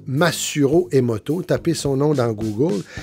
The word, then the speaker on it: Masaru Emoto: Ça s'écrit comme ça se prononce, Masaru Emoto.